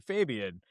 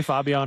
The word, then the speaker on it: Fabian: It's like Fabio with an N. I No, no, no. You said the Spanish pronunciation. Fabian.